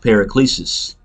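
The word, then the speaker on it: παράκλησις: into comfort in the Greek it would be pronounced periclesis which goes into a comfort you know and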